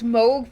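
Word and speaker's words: Mohg: that pun doesn't work it's Moog pronounced like Rogue got it got it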